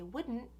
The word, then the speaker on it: wouldn't: So when I say wouldn't, I take the tongue for the D, would, and I just keep it there to pronounce the N. Would. So goes up for the D and just stays there for the N.